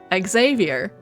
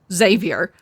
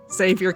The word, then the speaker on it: Xavier: they always call him Xavier. And I'm like, for one, that's already just like not how it's pronounced, because MC and Xavier himself say Xavier.